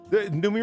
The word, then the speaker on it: Noomi: Yeah, I mean the Numi part is fine. That's like Zoomy, but with an N.